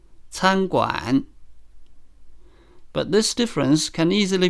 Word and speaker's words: 餐馆: For example, 参观 can be pronounced with both syllables in the first tone. 参观 meaning to visit. But it can also mean a restaurant if the second syllable is changed to the third tone, 餐馆.